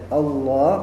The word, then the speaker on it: Allah: Ketika bertemu dengan sebelumnya fathah atau dammah, maka dibacanya Allah.